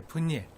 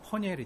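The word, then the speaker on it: 브니엘: 그 히브리 원문을 우리 한글말로, 원래는 정확히 말하면 원문, 히브리 원문 발음 그대로 분이엘을 말하면요, 퍼니엘이 돼요.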